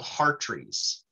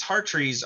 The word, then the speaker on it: hartrees: This negative 154 number is in units called hartrees, which is spelled H-A-R.